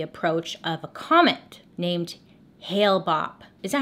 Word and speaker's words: Hale-Bopp: learned about the approach of a comet named Hale-Bopp. Is that how you say it? I feel like that's not right. The comet Hale-Bopp is an... Hale-Bopp!